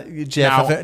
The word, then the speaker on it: GIF: The conclave happened is white and it is gif, baby.